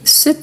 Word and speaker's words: cet: mais ici pour éviter donc je dis cet arbre donc je prononce le t en faisant la liaison d'accord ici il y